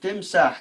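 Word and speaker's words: تمساح: So we pronounce this word Timsah, Ta, Mim, Sin, Alif, Ha, Timsah.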